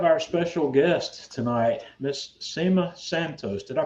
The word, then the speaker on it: Cema Santos: and we have our special guest tonight miss SEMA Santos did I pronounce that correctly that's right it's good and